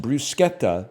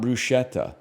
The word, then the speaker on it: bruschetta: Bruschetta is pronounced brusqueta, not bruschetta.